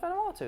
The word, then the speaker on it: Vanuatu: I want to go to Vanuatu. Do you only choose places that you can't pronounce? No, it's Vanuatu.